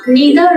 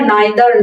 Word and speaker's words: neither: না হয় ওটা অর্থাৎ নিদার নর এবং ইদার অর নিয়ে আলোচনা করব। নিদার নর অথবা নাইদার নর, ইদার অর অথবা আইদার অর দুভাবে উচ্চারণ করা যায়।